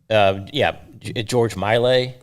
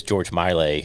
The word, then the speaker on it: George Miley: George Miley. That's how you say it. I mispronounced his name. Okay. I mispronounced his name yesterday and was corrected, so it is George Miley.